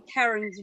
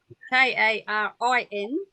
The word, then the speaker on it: Karin: So staying in Karen's room, we have, now I think this is pronounced Kieran, Karin, not Karen, has loud ringing in the ears and swollen glands.